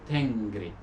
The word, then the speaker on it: Tengri: For example, we all know about Tengrism, and we know that this deity was called Tengri, with this nasal Tengri.